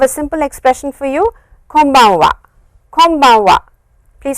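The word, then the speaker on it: こんばんは: clearly, but please remember this n over here is of course n, but the way it is pronounced is, press your lips like this, close your lips, and it is an m sound.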